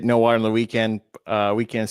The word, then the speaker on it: WKND: Weekend spelled WKND. Yep. But on TikTok, Weekend, it's just said how it's spelled.